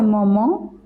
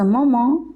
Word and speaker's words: moment: À ce moment, at this moment. IEN pronounced as on, T silent.